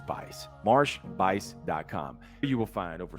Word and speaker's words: Buice: Looks like juice with a B in front, but the U is silent, so it's Bice.